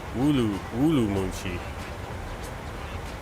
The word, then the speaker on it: Ürümqi: Oh, I'm actually saying it wrong here. Urumqi. When my wife said it, I didn't hear her say the woo.